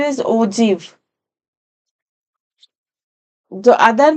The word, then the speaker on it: ogive: Its pronunciation is ogive.